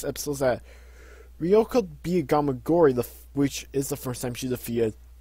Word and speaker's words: Gamagori: Four, which was against, like, I believe it's Gamagi, is how you pronounce his name. Gamagori.